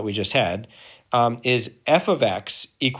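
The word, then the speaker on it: f(x): previous problem that we just had um is f ofx = 7x now this is actually really important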